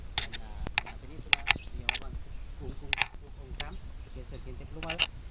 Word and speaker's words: Kukulcán: ¿Qué significa Kukulcán? ¿Sabes? Vulcán. ¿Sí? También es otro nombre mal pronunciado. El Dam- nombre es Kukulcán. Cucuncam. Kukulcán, que significaría serpiente emplumada.